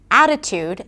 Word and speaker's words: Attitude: For example, in the word 'Attitude' the primary stress is on A.